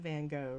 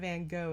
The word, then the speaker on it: Van Gogh: The G is actually pronounced like ho, right? So instead of Van Gogh, it's Van Gogh.